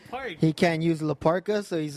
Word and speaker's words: Parca: the K, it's Ka, right? It's pronounced Ka, so it's La Auténtica Parca.